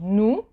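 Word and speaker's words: nous: oh you is and the S at the end of the word you don't pronounce it so Nu same thing with the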